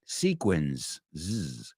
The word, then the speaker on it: sequins: the first one L that s sounds like a z right sequins say it with like